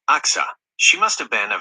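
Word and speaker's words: Achsah: Her name is pronounced Axa.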